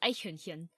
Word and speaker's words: Eichhörnchen: Eichhörnchen. Not Hühnchen. Hühnchen. There's two different sounds at the Oh, end.